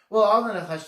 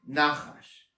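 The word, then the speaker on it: נחש: is also pronounced differently, nachash. If you can hear the difference, nachash is the emphasis is on the second syllable, and nachash, the emphasis is on the first syllable, spelled exactly the same way in Hebrew.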